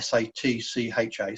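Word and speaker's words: sacca: a sa JJ a is pronounced something like sa TCH a Sacher Isetta such a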